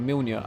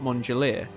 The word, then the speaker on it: Mjolnir: Like, when I first read the books, I didn't call the Spartan armor Mjolnir. I called it Mongolier, because my brain just made a sound that looked vaguely like what it did in the book, because obviously Mjolnir is spelt yeah.